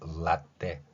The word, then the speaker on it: latte: 한번 생각을 해 보십시오 그 상태에서을 발음이 있는 상태에서 라떼 이렇게 간다고 생각하면 됩니다 영어의 L 발음은 자음이